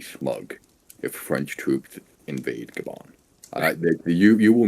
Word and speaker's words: Gabon: pronounced Gabon.